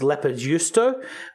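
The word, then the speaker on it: leipäjuusto: It's actually a Finnish squeaky cheese, which is pronounced leppärjuusto.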